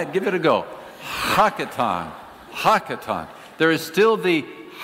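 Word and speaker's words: הקטן: It's a Hebrew word pronounced something like hakaton. I like to say it just because it's fun to say. It's kind of like clearing your throat.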